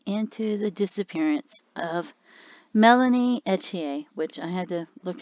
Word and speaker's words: Ethier: looking in today and they said her name was pronounced melanie nadia etchier and that she was